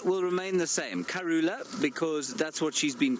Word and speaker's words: Kurhula: h u l a Kula and the H is almost completely silent it's very slightly aspirated